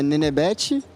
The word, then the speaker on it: Nenebete: Bom, como é que pronuncia é Nenebete e foi um apelido de quando eu era criança e acabou pegando, acabou curtindo e é isso.